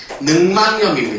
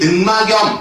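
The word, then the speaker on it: 늑막염: 다시 동화가 일어납니다 그래서 최종 발음이 어떻게 되는 거냐면 능망염 능망염 이렇게 발음을 할 수 있어야 돼 근데 대부분 애들이 막염 이렇게 발음한다고 잘못된 발이야 최종 발음은 능이야 능망염 이게 올바른 발음이라고 할 수가 있겠지 어 그다음에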